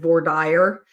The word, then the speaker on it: voir dire: That's the way I learned to pronounce it. V-O-I-R. The French pronunciation would be voir. The Latin pronunciation would be voir. And D-I-R-E, dear. Some people, Judge Boyce pronounces it voir dire. And I think that's a very typical sort of Middle West and Southern way of pronouncing it.